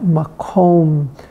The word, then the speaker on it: makom: How perfectly it's the beauty of the Hebrew language that makom actually does rhyme with shalom.